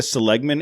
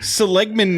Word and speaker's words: Seligman: Have you ever been to Seligman, Arizona? Oh yeah. I think it's pronounced Seligman, but it's just west on the 40.